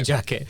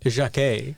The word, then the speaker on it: Jacquet: I feel like, well, first of all, the name is French, so I feel like we can't be calling him Jeremy Jacket. It's got to be like Jacquet, you know? Okay, fair enough. Well, I butchered my French there, but the reason I